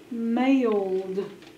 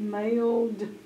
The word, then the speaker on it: mailed: Underline digraph AI. Mark out the I. Put a macron over the A. Mailed. M-A-L-E-D. Mailed.